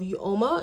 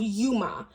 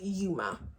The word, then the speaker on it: Uoma: uh Sharon's C she is the owner of you Oma and you Oma by Sharon C she is Nigerian born and actually I'm mispronouncing the brand so it's actually pronounced Yuma and it means beautiful um yeah it means